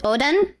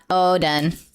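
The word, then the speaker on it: おでん: But apparently you're supposed to pronounce it Odin, not Oden cuz I I say Odin.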